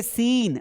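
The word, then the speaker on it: scene: तो जब भी एस और सी साथ में आएंगे इस सी का मीनिंग ना तो स निकलेगा और ना ही क निकलेगा।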